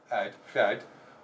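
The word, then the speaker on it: fead: I mean, the way that is pronounced there, F-E-A-D. Well, when you have E and A together, you're going to hit the A sound. The F is going to be slender. Fad.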